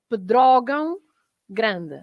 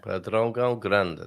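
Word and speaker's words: Pedrógão Grande: Because of the nasal sounds, because we have lots of nasal sounds, right? And then that is also another nasal sound. And Pedrogão, because you should have an accent on the O, so it's the stress is there. So it's Pedrogão Grande.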